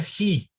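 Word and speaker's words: ἡ: Tengo un espíritu rudo sobre una eta o ita. Entonces esto se pronuncia ji.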